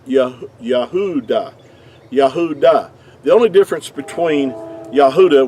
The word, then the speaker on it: Yahudah: the word uh judah in our english word would be uh what would be accurately would have been pronounced yahudah now most people won't argue with that fact that it's yahudah and it's not yahwada see with the w